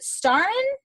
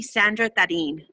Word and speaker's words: Sandra Tarin: Is it Starren? No, huh? Can you unmute yourself and tell me how you say your name? It's actually Sandra Tarin.